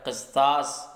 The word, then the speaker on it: قسطاس: عقل کا ترازو ہے۔ قسطاس بولتے ہیں ترازو کو، اور قرآن مقدس میں بھی یہ لفظ استعمال ہوا ہے، قسطاس قاف کے زیر کے ساتھ۔ تو میزان نام اس